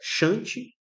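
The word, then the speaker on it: shunt: Podem ser conectados em palavra paralela, que é chant. É muito, é mais é mais comum você ver a pronúncia chante do que paralelo em português.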